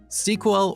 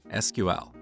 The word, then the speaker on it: SQL: talk to different people you'll hear two different pronunciations of SQL sequel or SQL what is the correct